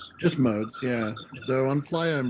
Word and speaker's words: Modes: Points East West your last name is pronounced just modes yeah so on fly on Ricoh Thunder Rico